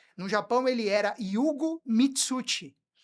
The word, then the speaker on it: Mituti: mas eu não sei se você sabe que o Mitucci do meu pai é japonês, Não é italiano? não é italiano. Todo mundo acha que é italiano, mas é Mitucci.